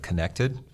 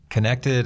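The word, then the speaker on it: Kinected: Connected is a funny spelled word. It's spelled K-I-N-E-C-T-E-D, and it is a mashup, even though it sounds like connected.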